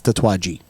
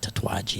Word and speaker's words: Tatuaje: Say it right. It's Tatuaje. It's not Tatuaje.